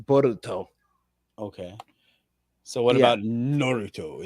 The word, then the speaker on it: Boruto: It's Bolt, but in the Japanese dialect it's pronounced Boruto.